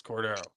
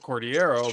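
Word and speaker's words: Cordeiro: It's like, it's Cordero. Or like sometimes they'll pronounce it Cordiero, but that's not how they pronounce.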